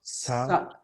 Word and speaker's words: subtle: can be very several several subtle subtle that that b is silent subtle subtle especially the